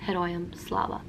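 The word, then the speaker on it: Героям слава: say slava ukraini and the response to that would be heroium slava thank you for watching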